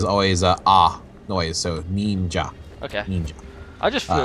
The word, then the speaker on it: ninja: No, say it right. It's ninja. Ninja. There you go. How was that? Was that good? That was better. Was that good? Yeah, because in Japanese, the ni makes like a ni, because the